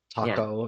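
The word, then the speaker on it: Takao: Taco, yeah. Okay, got it. Yeah, Taka's the first part, O is the second part.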